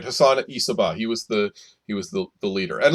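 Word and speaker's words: Hassan-i Sabbah: And that was the leader of this group was called Hassan Isabah. Is that how you pronounce it? Yes, that's right. Hassan Isabah.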